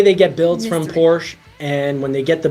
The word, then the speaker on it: Porsche: building price for Porsche should always say Porsche it's the proper pronunciation the price they cost